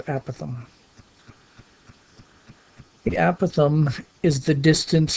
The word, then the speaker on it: apothem: Some people pronounce it apothem. I think the correct pronunciation is apothem.